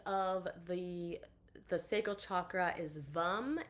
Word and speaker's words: Vam: So the seed sound of the sacral chakra is VUM. It's spelled VAM, but we pronounce it VUM.